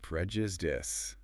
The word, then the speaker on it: prejudice: The stress is on the first syllable, and that I at the end is a short I sound, not a long I sound. Prejudice.